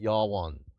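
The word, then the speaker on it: יָוָן: Javan is the land of Greece you would pronounce it ywan in Hebrew so Greece and tubol and mishek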